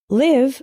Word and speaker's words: live: is live and live live with the same I as in sit means to reside for example I live